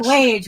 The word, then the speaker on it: Lage: It's Lage, rhymes with rage. Yeah.